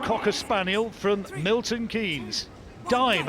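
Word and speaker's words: Daim: Samantha Lane with Dame, 8-year-old Cocker Spaniel from Milton Keynes. Dime, I'm sorry, that's how you should be pronounced, spelt D-A-I-M, loves the crowd and loves Crufts.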